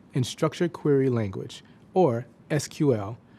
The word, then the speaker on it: SQL: structured query language, or SQL, which is often pronounced "sequel."